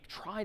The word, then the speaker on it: trie: Well, let me propose that we try to get there, no pun intended, though I guess kind of intended, with tries, short for retrieval. Even though retrieval isn't pronounced retrival, a try is another type of tree,